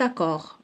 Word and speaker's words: accord: Si vous arrivez en retard, donc on a dit D, vous ne pourrez pas signer cet accord, donc D à la fin.